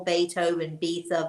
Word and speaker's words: Beethoven: We call Beethoven because that's how it's spelled.